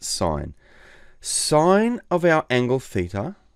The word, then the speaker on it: sin: them the first one it's written sin but we pronounce it sine sine of our angle